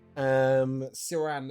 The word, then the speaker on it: Ciran: Ciran is spelled with a C, Ciran.